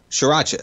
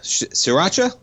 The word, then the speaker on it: sriracha: man uh sriracha right is that how you pronounce it shiracha sriracha well there's a shortage folks and they've been